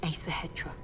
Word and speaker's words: Æsahættr: across some cliff guards they spoke of the asa hetra he's the hedgehog that's how you pronounce it it's between winning and losing find